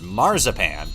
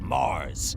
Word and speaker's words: Mars: I've heard your name is Marzipan, like the chocolate. It's not marzipan. It's Mars. Oh, okay. It should be Mars, with an S.